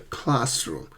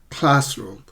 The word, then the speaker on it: classroom: Now, what about compound words like, my laptop, blackboard, or I think I left my bag in the classroom. Classroom. Always stress the first syllable.